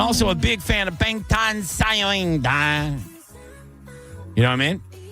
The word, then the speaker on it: 방탄소년단: It's 방탄소년단, which translates to us Americans as Bulletproof Boy Scouts. Oh, and it's in Korean. How do you say it again? 방탄소년단.